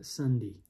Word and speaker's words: Sundi: okay first we got sundi then we got mundi okay but mind you sunday is spelled s-u-n-d-i monday is spelled m-u-n-d-i so we got sundee and mundy and you'd think maybe